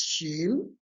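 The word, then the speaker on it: شين: So, it's pronounced as sheen and it's sh.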